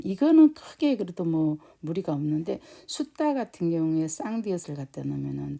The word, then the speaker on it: sutta: 그래서 여기 같은 경우에 그냥 숫다. 여기도 마찬가지로 길이가 숫이 조금 더 길죠. 그다음에 따는 짧게 그래서 숫다 이런 발음이 됩니다.